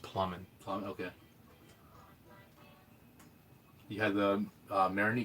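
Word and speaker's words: Plamen: I met a Bulgarian guy in college, and so although it looks like Playman, I think it's actually pronounced Plumman.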